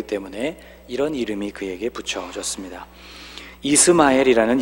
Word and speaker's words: 이스마엘: 이스마엘이라는 이름도 있죠. 이슈마엘이라고 읽는 이 이름은 샤마와 엘이 결합된 또 다른 형태의 이름입니다.